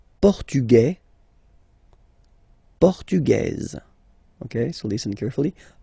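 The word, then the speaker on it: portugaise: portug you don't pronounce the S feminine form portuges you pronounce this Z sound okay and then remember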